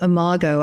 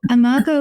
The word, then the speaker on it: Imago: Well, first of all, thank you for saying Imago. I can't tell you all the various ways people pronounce that. And Imago is from the Latin.